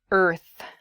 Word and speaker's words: earth: it is the word earth earth that r and the th sound can be difficult to pronounce together er f earth so this is a